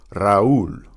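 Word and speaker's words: Raúl: Notice the accent on the U. That's how you know it's a separate syllable. Raul.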